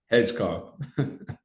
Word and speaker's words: Hedgecoth: um we have cole um how do you pronounce your last name hedgcock yeah that that's how you pronounce his name